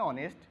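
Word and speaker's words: honest: আমাদের এখানে এই শব্দটি উচ্চারণ হচ্ছে অনেস্ট, তার মানে এখানে এইচের উচ্চারণ হয়নি, হয়েছে ভাওয়েলের উচ্চারণ। যেহেতু ভাওয়েলের উচ্চারণ হয়েছে সেহেতু এখানে বসবে এন, এন অনেস্ট।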